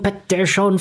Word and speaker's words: Pettersson: That's how he says it, folks. I'm not going out there and just saying Pettersson for the memes. That's really how it's pronounced, and it's been that